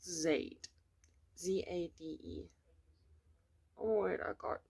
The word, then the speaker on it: Zade: If I'm not mistaken, it's pronounced Zade.